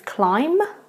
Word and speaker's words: climb: are pretty difficult because students always try to pronounce the B at the end of the word but you do not need to pronounce that beat at all so it just becomes climb and tomb so you